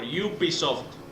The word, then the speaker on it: Ubisoft: Not Ubisoft? I don't think so. Some people pronounce it as Ubisoft, but I pronounce it as Ubisoft. Ubisoft. Like unicorn.